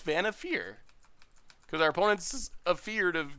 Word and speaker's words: Vannifar: It's Vannifar? Alright, Vannifar. I thought it was Vannifar. That makes sense. Vannifar.